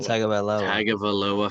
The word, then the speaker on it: Tagovailoa: Last podcast I said it was going to be a big weekend for the I gotta learn how to pronounce his last name. Tagovailoa family, and it was.